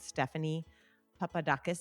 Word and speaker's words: Stephanie Papadakis: And Stephanie Papadakis, did I say it right?